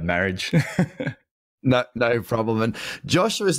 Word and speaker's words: Marriage: Yeah, look, in high school, it was marriage, and yeah, it is French, but we'll just go with marriage.